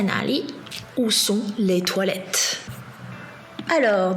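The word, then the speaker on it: 哪里: Enfin, 哪里 veut dire où. Et ici, troisième ton pour na et li, ton neutre. 哪里 Oui, bien sûr, dans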